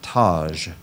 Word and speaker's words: taj: The dervish was wearing a white taj made of felt. Is there any alternate pronunciations?